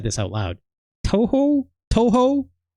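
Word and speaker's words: Touhou: It is Toho.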